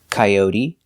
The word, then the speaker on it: coyote: They all end with an E that makes the same sound, the long E sound, like green beans. Recipe, coyote, sesame, adobe, karate, apostrophe, catastrophe, and acne.